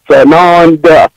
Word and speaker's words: Tsanonda: Just please make sure you add the T on the front. It is silent. Tsanonda.